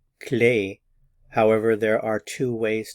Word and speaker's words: clé: to note is that the word key in French is always pronounced clay however there are two